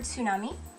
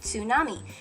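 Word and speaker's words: つ: it in time um the best way to work on hearing that sound is to say tsunami and say it with that t sound it comes from right here in your vocal cords right all right i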